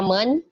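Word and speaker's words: 们: Nah, kemudian di sini perhatikan ini ada kata men. Nah, men di sini tidak ada nadanya ya.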